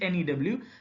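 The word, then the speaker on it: knew: very recent that is ne W and when you say KN e w new here K is silent in Kenny W you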